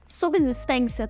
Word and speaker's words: subsistência: Assim como subsídio, subsistência também fala-se com som de C e não com som de Z.